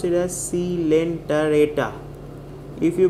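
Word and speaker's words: Coelenterata: word silent arrata pronounce is pronounce it as c lenta reta if you pronounce it as silent rates then you will get the spelling wrong it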